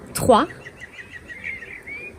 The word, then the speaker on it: trois: Trois. Trois. Trop à trois. You don't pronounce the S at the end.